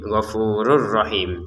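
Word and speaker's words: غفور رحيم: Gfurur rahim cara bacanya. Jadi tanwin atau ee domat airinnya kita masukkan ke ro yang setelahnya ini tanpa denggungan.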